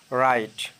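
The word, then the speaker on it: write: word দেখতে পারি যেমন রাইট লেখা এখানে ডাব্লিউ এর উচ্চারণটি হয়নি রং ভুল এখানেও ডব্লিউ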